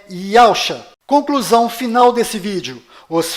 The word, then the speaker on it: Yahshua: O verdadeiro nome do Messias está do lado direito da sua tela e a pronúncia dele é Yahshua.